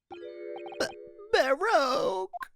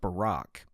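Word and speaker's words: Barok: have something to say Baro it it's pronounced Barack Lord veks gosh I've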